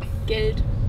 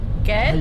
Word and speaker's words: Geld: Money. Geld. Huh? Huh? No, what? Geld. Good. Geld. Geld. Ged?